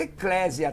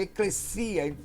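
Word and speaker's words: ἐκκλησία: Não diga eclésia, tá, irmão? É eclesia.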